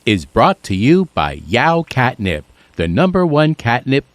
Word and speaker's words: Yeowww!: So, I used to pronounce it Yahoo, which was the French way, but I've been told that it's actually Yao, like meow, but Yao.